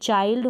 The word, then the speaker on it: चाइल्ड: आई के बाद में एल डी है। आई के बाद एन डी है। आई के बाद एन डी है। तो यहां पर हम आई को आई प्रोनाउंस करेंगे।